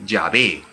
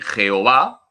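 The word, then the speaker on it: Yahveh: dios por excelencia en el antiguo testamento es llave éxodo 314 las cuatro letras sagradas se pronuncian llave el que es yo soy el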